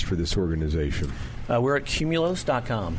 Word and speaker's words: Qmulos: OS comm right and it's pronounced cumulus cumulus we've been speaking with